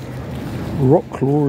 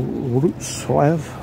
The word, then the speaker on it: Wrocław: The one after that I did was Rocklaw, as I call it, or Wrocław, I think is the how they pronounce it.